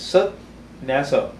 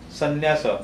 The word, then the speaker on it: sannyasa: it's Sat, Nyasa. So when that Sat, that short ta combines with na, that is pronounced as double N, sannyasa. San. Instead of Satnyasa, it is sannyasa.